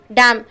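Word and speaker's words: damn: இப்போ நம்ம 9வது வார்த்தை என்ன வந்திருக்கோம்னா டேம். இது ரெண்டுத்துக்குமே ஒரே உச்சரிப்பு. என்ன வந்து நம்ம சைலண்டாக சொல்லணும், மெதுவாக ப்ரொனவுன்ஸ் பண்ணணும். டேம்னு சொல்லக்கூடாது, டேம்னு தான் உச்சரிக்கணும். இது வந்து வினைச்சொல்.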